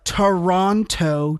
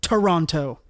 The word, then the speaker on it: Toronto: on oh no no it's two tees no it's one tee when you say it no you know you pronounced you pronounce every letter in a word depends on where you're from okay and I'm not from Canada so I pronounce it the American Way Toronto but I'm American and I don't pronounce it with two T's and I'm offended why